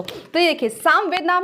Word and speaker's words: सामवेद: अब ये समझिए कि अगर यहां पर साम ना बोलकर बहुत लोग उच्चारण क्या कर देंगे श्यामवेद अगर मैं इसको सामवेद ना लिखकर मैं शाम वेद लिख दूं तो इसका मीनिंग चेंज हो जाएगा ना शाम का मतलब क्या